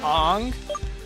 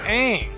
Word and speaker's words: Aang: Who the fuck is Ong? It's Aang. It's not Ong.